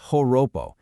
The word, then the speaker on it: Joropo: And it's exactly here, right among these Llaneros, that we find Joropo, pronounced Horopo. Now, Joropo isn't just a style of music or some regional dance, not at all.